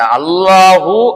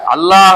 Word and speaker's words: الله: எழுப்புறாங்க அதற்கு விடை சொல்றாங்க யாவற்றிலும் அதிகமாக அல்லாஹ் அல்லாஹ்வின் லாமை வல்லினமாக அழுத்தி உச்சரிக்க வேண்டும் எல்லாத்திலயுமே அந்த அல்லாஹ் லாம